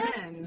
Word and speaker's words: Crimmins: Craig Crimmins, is that how we say his name, Olivia? Crimmins. Yes. Is that correct?